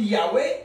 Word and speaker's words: Yahweh: Par exemple, quand on dit Yahweh, on met un A. C'est parce que dans Alléluia, il y a le YA. YAH. Hein? Alors on sait que c'est le son A.